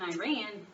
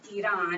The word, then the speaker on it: Iran: are being held hostage in Iran Iran if you want to say it correctly and just like stop